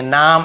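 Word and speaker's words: name: वाय ही पढ़ते हैं ई है तो ए को ए ही पढ़ेंगे नाम ऐसे नेम ए को ए पढ़ेंगे आई है तो आई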